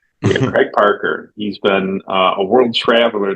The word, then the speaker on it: Craig Park: Craig Park.